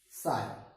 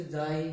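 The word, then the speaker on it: chi: इज the electrical susceptibility, साई। अलग अलग pronounce करते हैं कुछ टीचर, जाई, काई, साई, मीन्स आपको कोई कंफ्यूजन नहीं क्रिएट करनी, आपने कुछ भी आप प्रोनाउंस कर सकते हैं।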